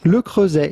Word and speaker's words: Le Creuset: The T at the end of Creuset is definitely silent. Le Creuset is how it would be said in France.